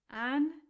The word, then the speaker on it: Angelicus: And then the next word has four syllables and four notes to go with them. Angelicus. And again, Angelicus.